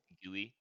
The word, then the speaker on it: Gveh: Gveh? Gveh. Gveh? Gveh. Gveh. It's literally just a fucking German rifle with the last two letters cut off, baby.